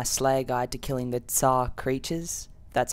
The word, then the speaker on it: TzHaar: Hey guys, this is again, and this is going to be my Slayer guide to killing the Tzhaar creatures. That's how you pronounce it.